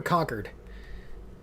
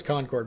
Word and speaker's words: Concord: us said it wrong is it concord or conquered oh i don't care let me let me know in the chat is that not concord it is concord but they say it